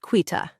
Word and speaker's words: Quita: I am excited to see how that rolls out and my name is pronounced quitta.